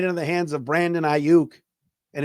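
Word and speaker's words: Aiyuk: his face right into the hands of Brandon auk and it's I UK all right somebody tell the guy on the weekends on the radio it's pronounced auk not AOK Focus so behave um the lions are probably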